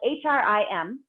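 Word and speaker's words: hreem: cream which is Feld hrim and it's pronounced HR EE M and so today we're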